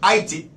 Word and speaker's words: Haiti: the island of Haiti, what you guys refer to as Haiti, the correct pronunciation is Haiti, went against the military might, Spain, England, British, and conquered them and beat them ass, whipped them.